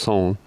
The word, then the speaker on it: Sun: I met a gentleman, I don't know if his trail name or his real name is Sun, but it's pronounced Son.